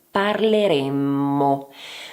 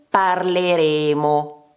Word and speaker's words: parleremmo: Innanzitutto, attenzione alla doppia M nella prima persona plurale.